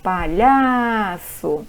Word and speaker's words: palhaço: Agora, palhaço, chama para a mãe, palhaço, o lhá, ele tem uma tonicidade, então a sílaba tônica de palhaço é o lhá e o bolo é bolo.